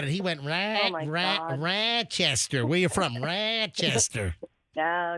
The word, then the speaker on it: Rochester: Um, so I moved from and it's Rochester, not Rochester.